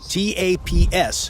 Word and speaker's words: TAPS: The main way that the tank differs is that it has a brand new system called a top attack protection system, TAPS, pronounced taps.